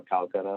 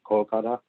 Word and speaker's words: Kolkata: houdo section of folklore or calcutta however you want to pronounce it uh bengali is called kolkata but basically my my